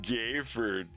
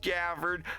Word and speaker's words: Gafford: be like hey dude I heard your name is gayford and just a simple thing where I'd be like no it's pronounced Gafford I just like do